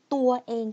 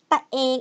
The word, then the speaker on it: ตัวเอง: So people shorten the word ตัวเอง to ตะเอง. ตะเอง, it sounds a little bit cuter now.